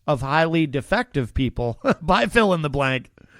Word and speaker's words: PHIL-IN-THE-BLANK: In all caps, and it's spelled PHIL-IN-THE-BLANK. Fill in the blank.